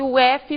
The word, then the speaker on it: of: Off, que quer dizer fora ou desligado, tem o som de F no final. Pensem que o F duplo faz F. E o outro, aquele que quer dizer of, tem o som de V no final da palavra. Então nós temos off, desligado, fora, e of, de, ok?